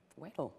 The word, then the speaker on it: Wedel: Wedel.